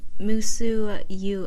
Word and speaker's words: Musou: despite how it's spelled it's supposed to be pronounced musu us like us like USA yes but musu